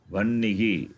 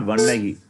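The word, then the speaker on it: वह्निः: Vannihi. Simple. It's not difficult. Yeah. Not vannahi. That is wrong. Not one. Vanahi. It is not vannahi. It is vannihi.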